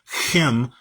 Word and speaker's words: Ham: So yes, it is the name of Noah's son, but it's pronounced Chem more correctly.